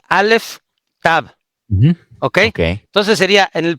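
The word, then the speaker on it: alef tav: Sería en el dice en el que se pronuncian alef tab. Okay. Entonces sería en el principio Dios Alex Tab creó los cielos y la tierra.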